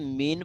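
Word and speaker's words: mesne: ठीक है, इसको हम अपने सिविल सेंस में हम देखेंगे कि मीन प्रॉफिट क्या है। यहाँ पे मीन इसको क्या पढ़ते हैं, एस जो है साइलेंट है। कहते हैं मीन profit of property मींस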